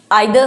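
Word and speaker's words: either: कोई इसको इधर बोल देता है, कोई आइदर बोल देता है, ठीक है। और राइट प्रोनाउंसिएशन में भी आइदर होगा आपका, ठीक है।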